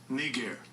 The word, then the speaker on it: Niger: look up the word it says pronounced let's see how it sits strong's g 3526 knee gear what